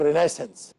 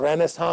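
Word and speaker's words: Renaissance: کہ renewal of sciences, انگریزی میں اس کو کہتے ہیں رینیسنس، اور رینیساں بھی اس کا تلفظ کیا جاتا ہے۔ نشأت ثانیہ، تو کس چیز کی نشأت ثانیہ؟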